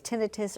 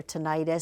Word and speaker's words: tinnitus: How can aiologists help with Oh, I I've seen this pronounced uh two different ways. Tinitus or tonitis.